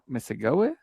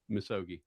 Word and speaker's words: Misogi: Uh But yeah that's Next next one I got here and if I pronounce this wrong I apologize. Do you do you do a Mis- Mis- Misago? Misogi.